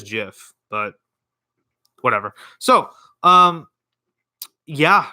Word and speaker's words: GIF: became a Jif now so Jeff gif however you say it oh excuse me Jeff give tomato tomahto however you say it right so anyway apparently it is Jeff but whatever so um